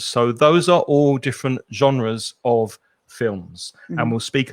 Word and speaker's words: genre: right next one and this word i think comes from french genre but in english we'd probably just say genre and it's the kind